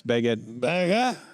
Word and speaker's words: baguette: 3 m long now if you really respected the French you would pronounce beged I don't respect them